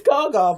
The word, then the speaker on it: Gaga: No, it's Gaga, but like Lady Gaga.